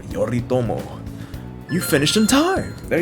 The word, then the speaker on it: Yoritomo: yorito yoritomo that's how you say his name yoritomo you finished in time there you go there